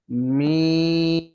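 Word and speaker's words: ميم: অর্থাৎ ঠোটটাকে হালকা একটু চাপ দিয়ে উচ্চারণ আমরা শুরু করব। মাঝখানে স্বাভাবিক আবার শেষে চাপ দিয়েই বন্ধ করব। মিডিয়াম চাপ হবে।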